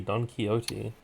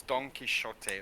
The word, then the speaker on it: Don Quixote: was a silent t don quixote not it's it's an x but it's apparently pronounced as a ch the same as like the chin dynasty but it's it's like yeah it's don quixote or something i've never